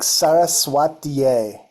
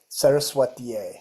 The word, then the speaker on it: Saraswatiye: Yeah, it's like Saraswatiye. So Saraswat, yay. Saraswat. Saraswatiye. Yay.